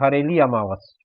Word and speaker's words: हरेली अमावस: जो लोग छत्तीसगढ़ी में इसको उच्चारित करते हैं वो कहते हैं हरेली अमावस। इस तरह से इसका पूरा उच्चारण किया जाता है।